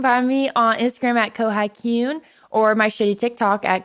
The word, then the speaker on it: Kohai Kyun: So it's Kohai, like the Kohai to your senpai. And then Kyun, because that is such the cutest onomatopoeia ever.